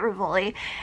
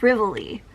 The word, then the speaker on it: Rivoli: same way, which is, I say it Rivoli, and I've heard some other people say it like Rivoli. So, I'm gonna stick with Rivoli. I don't know, to me, Rivoli sounds more like ravioli slash reveille.